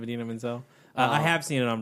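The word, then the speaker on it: Idina Menzel: My biggest thing from Frozen is John Travolta mispronouncing the girl's name. That's the thing I remember most, and I like the most. Adele Dazeem or something like that. Instead of Adina Menzel.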